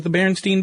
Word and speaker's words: Berenstain: there's a song and they don't say Berenstain it's The Berenstein Bears that's how they say it how do you